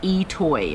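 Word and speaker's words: I'itoi: Today we're going to try a new to me onion called Etoy, and it's spelled kind of funny, like I or IOTOI, and it's what's called a multiplier type onion.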